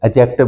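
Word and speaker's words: adjective: एडजेक्टिव दो लफ्जों, D silent है, एडजेक्टिव बोलते हैं।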